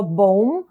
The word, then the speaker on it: bomber: Cross me Увага друзі у вимові слова боум bomer друга бі не вимовляється запам'ятайте будь ласка щоб